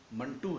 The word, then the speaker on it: منٹو: اسے منٹو بولتے ہیں، کچھ لوگ اسے منٹو بولتے ہیں۔ اس کا صحیح تلفظ منٹو ہے۔ سعادت حسن منٹو کے